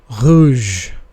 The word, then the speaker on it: rouge: The next alphabet is a bit typical because it is pronounced with a throat sound. It's a kind of a gargle sound. R. R. R. For example, rouge.